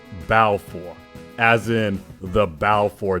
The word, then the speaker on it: Valefor: topic for you see in Japanese there is no symbol for the letter v as in velvet or Violet only b as in boy black and Bodacious so vow for would actually be pronounced bow for as in the bow